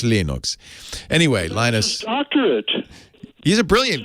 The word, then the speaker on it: Linux: name is lena storvalds i pronounce lenox linux that was for a long time linux came with a sound file of linus explaining how to pronounce his name and linux and uh it's it's burned into my brain my name is linus torvalds and i pronounce linux linux anyway linus he's a